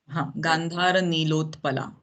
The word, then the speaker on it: Gandhara Nilotpala: As I have just mentioned that even there is the half ta is not there in Gandhara Nilotpala. So we are going to pronounce it as Gandhara Nilotpala.